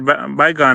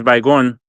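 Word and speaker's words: Baygon: in Spanish, which is bygon. Okay. By like the city like bye-bye and then go instead of like saying gone.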